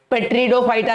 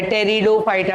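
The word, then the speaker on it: Pteridophyta: पेट्रिडोफाइटा नहीं है, P silent है, टेरिडोफाइटा, टेरी टेरी तेरी तेरी, टेरिडोफाइटा.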